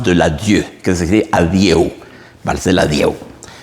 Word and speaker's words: adieu: Vals de l'Adieu, que se escribe adieu. Vals de l'Adieu. Un colega tenía yo que siempre decía, Jack, tocate el Vals del Audi. Del carro Audi, entiendo que es un carro.